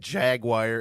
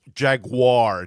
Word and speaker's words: Jaguar: it uh necessary to correct people on the right way to say Jaguar. That was his favorite car. And when I said Jaguar as an early teen, he was like, "It's Jaguar. Jaguar."